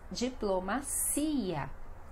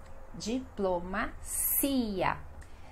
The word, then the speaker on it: diplomacia: Deu para perceber então que sempre essas palavras que terminam com ia, essa será a sílaba mais forte, esse i que precisa ter o som, que precisa ter o acento forte ali, tá bom?